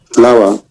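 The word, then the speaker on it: flour: Flower. No, yes, not flower. Yes, that's a flower, like a flower. Flower. Okay, Yeah, yeah. the same pronunciation of the plant, flower.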